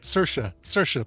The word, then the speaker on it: Saoirse: Saoirse. Rhymes with inertia.